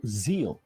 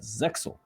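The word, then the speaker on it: Zexal: for my pronunciation uh Yu-Gi-Oh Zeal is the original Japanese pronunciation but in the dub it is pronounced as zeel which is what I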